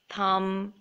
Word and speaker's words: thumb: So the B is silent in all of these words. So let me read them out to you. Doubt, debt, climb, comb, thumb, and tomb.